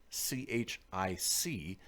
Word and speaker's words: chic: who said chic, spelled CHIC. I thought it was pronounced chick and used to say out loud, that's a chick outfit, as opposed to a chic outfit.